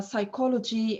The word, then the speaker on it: psychology: s letter like the uh the words uh psychology and psychological and so on this is everything